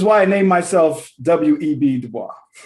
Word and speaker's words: Du Bois: Du Bois. Oh, you put an S on the last name and you don't even pronounce the S.